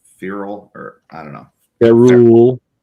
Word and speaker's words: ferrule: It's spelled F-E-R-R-E-L. It's a ferrule. Ferrule? Okay. I don't know if I didn't know if it was ferrule or feral or I don't know.